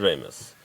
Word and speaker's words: Rejmes: you pronounce Yes. it? Remus.